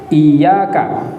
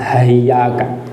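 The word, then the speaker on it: إِيَّاكَ: Iyyaka, untuk cara bacanya ada ulama yang membaca hayyaka, ada yang membaca ayyaka, tapi umumnya dibaca iyyaka.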